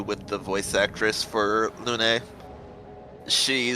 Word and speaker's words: Lune: for French words, so she actually learned the proper French pronunciation for Lune, which would be Luna, and then they said, no, that's wrong.